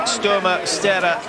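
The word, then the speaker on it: Kristin Størmer Steira: Number 13 is Kristin Sturma Stera of Norway. Many thanks to our viewers for the advice on how to pronounce her name.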